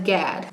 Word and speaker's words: GAD: The acronym for generalized anxiety disorder is GAD, which I'm going to pronounce as GAD.